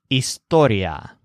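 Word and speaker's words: historia: story or history is Astoria this word is spelled kind of like the English word history but the stresses on story so it's halfway in between Astoria beneath the lantern and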